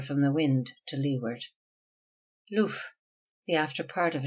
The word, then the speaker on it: loof: Hence the guns which lie here are called loof pieces. Loof, usually pronounced and spelled luff, which see.